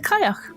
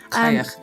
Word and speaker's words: Cailleach: She, of course, is the Cailleach. Cailleach. You got it, Tilly? I'm definitely going to pronounce that wrong throughout the whole of this episode.